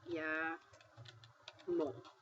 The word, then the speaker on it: llamo: So if you see the double L, like in the word llamo, you pronounce that yah moh. So, double L(LL) sounds like a Y.